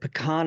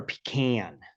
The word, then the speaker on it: pecan: you had is it pecan or pecan? It's pecan. Pecan is Georgia. Pecan is Texas. So It pecan all depends on where you're from and from it with how it's pronounced.